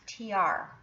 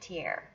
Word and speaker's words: Tiare: And according to Google, it's pronounced Tiare, and I've been saying it Tiare.